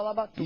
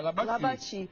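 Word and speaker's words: Labatut: E chamava Labatu. E chamava Labatu, não era Labatu, não. Porque a pronúncia lá, no jeito francesa, é Labati.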